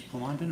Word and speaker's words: Pondon: Good morning, Miss Pondon. Am I pronouncing that correctly? Yes. Um, first thing, Miss Pondan, if I could have you raise your right hand, please.